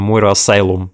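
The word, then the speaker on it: Moira Asylum: То есть, в общем-то, если что, то это именно что, как бы, если кто не знает, это именно Мойра Асайлум, как бы в оригинале произносится.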